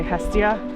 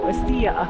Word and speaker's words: Hestia: If we want to use the English pronunciation, we can say Hestia. And then if we want to go Greek on that, we go estia. Estia estia.